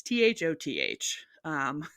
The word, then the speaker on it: Thoth: It's Thoth.